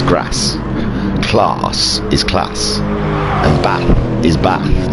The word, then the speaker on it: Bath: And I say it like a northerner because I don't put an R in Bath. I say Bath. It's a Bath. B-A-T-H.